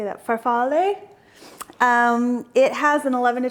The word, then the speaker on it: farfalle: Farfalle.